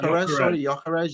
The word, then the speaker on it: Gyökeres: two of the teams in this panel over Gyökeres. Am I pronouncing that right? Yeah, Gyökeres, yeah.